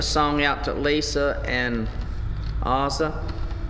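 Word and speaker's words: Oza: Want to send a song out to Lisa and Ozza. I think I pronounced that right. It's spelled O-Z-A, Ozza.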